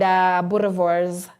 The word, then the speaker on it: Boerewors: It's an African name, and Boerewors is how it is pronounced, but Bratwurst or just wors.